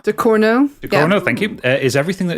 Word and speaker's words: Ducournau: Charlie Ridgewell has given me a name I can't pronounce. Julia Ducournau? Ducournau, Thank you.